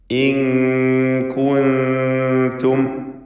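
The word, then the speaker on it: إن كنتم: ഇൻ കുൻതും എന്നുച്ചരിക്കുക. പദത്തിൻ്റെ അന്ത്യത്തിൽ സാക്കിനത്തായ മീം വന്നിട്ടുണ്ട്. ഇൽഹാർ ഷഫവി നൽകി മീമിനെ മണിക്കാതെ വെളിവാക്കണം.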